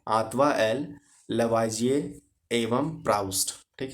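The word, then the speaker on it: Lavoisier: अच्छा चलिए, इंग्लिश में अगर आप इसका प्रोनाउंसिएशन कीजिए थोड़ा अलग है, Antoine L लेवोजियर and Proust, है ना।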